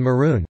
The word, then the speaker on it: maroon: to eat day and maroon pronounced with o own as opposed to you oon variation variation in Australian closing